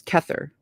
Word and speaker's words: Kether: I've also looked up how to pronounce those correctly multiple times. Let's see if I can do it. 1 is Kether.